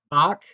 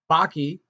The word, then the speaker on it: Bakke: Now, I've had a couple different professors pronounce this different ways. Bach, Bakke, Bakey. I'm going to go with Bakey.